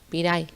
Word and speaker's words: piray: No, piray. Piray. Eso, Por piray. Al tener el acento nasal en la A, se acentúa ahí. Piray.